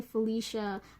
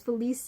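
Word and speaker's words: Félicia: name is policia right I hate the people that pronounced when you Felicia like that's such an English way of saying it so like the French way you know the EC is in there it's Felice yeah oh um director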